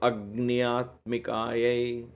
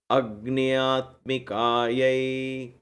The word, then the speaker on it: Agnyatmikayai: So just like you're joining Agni and Atma. So Agnyatmikayai, right? Om Ram Agnyatmikayai Deepam Kalpayami.